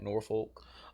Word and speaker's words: Norfolk: It's Norfolk. Yeah, but no, like people who from above and below, they be like, oh, what's that, Norfolk?